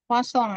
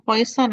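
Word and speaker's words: Poisson: itu eh namanya adalah sebaran bacanya wasong Ya wasong ini karena eh nama orang Prancis n itu dibaca Eng dibacanya sengau ya sengau Jadi bukan Eng bukan Eng banget ya kosong ya jangan Poison nanti kalau Poison jadi sebaran beracun ya bahasa Inggris po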